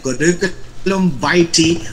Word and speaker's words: curriculum vitae: Sabi niyo curriculum vitae or curriculum vitae. Pwede rin vitae. Ayan, hindi nyo makakalimutan yan, ha? Okay, that's the way to pronounce it.